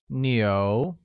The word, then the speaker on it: 牛: The next sentence, I have 1 cow, becomes 我有一只牛, where cow translates to 牛 and is pronounced with a mid-rising tone.